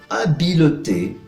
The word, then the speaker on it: habileté: La H muda, entonces se dice habileté, l'habileté, les habiletés, deshabiletés. Puedes escuchar la diferencia, ¿no? La liaison que hay entre el artículo definido o indefinido y la palabra, al contrario de la